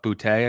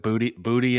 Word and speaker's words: Boutte: Keyshawn Boutte, I think is how you pronounce it. They kept pronouncing it booty in the PA at the game, but which is hard not to laugh.